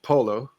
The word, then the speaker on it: PoLo: name is ham Tok portable logger or short Polo um which is kind of like p w l pronounced by somebody who doesn't speak English as